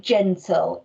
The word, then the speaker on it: gentle: the full part at the end of gentle ready i'm gonna rub out that's the oh so gen tool and